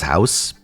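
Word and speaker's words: huis: first the yellow house it's written but apparently that last word is just pronounced as house I don't know man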